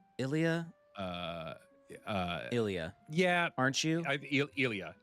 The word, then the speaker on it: Ilia: Lilia. Ilia. Uh uh. Ilia. Yeah, aren't you? Ilia. Cuz it's it's an I. It's a capital I L I A.